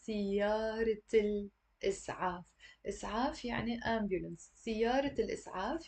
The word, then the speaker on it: سيارة الإسعاف: And we don't say siyara al-is'af. That would be completely wrong. We have to say siyarat al-is'af.